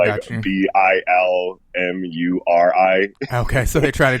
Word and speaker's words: Bilmuri: I like his band name is called Bill Murray, but it's spelled weird. Okay, it's got you. Bilmuri.